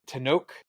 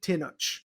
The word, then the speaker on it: Tenoch: No, it's a very Mexican last name, and I've been saying Tinoch with the ch sound. So, and I think that's how they say it in the movie too.